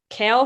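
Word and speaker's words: Cale: His name is Kale McCarr. So it's just Kale. It's spelled with a C. It's actually spelled with a C. It's not spelled with a like C. a vegetable.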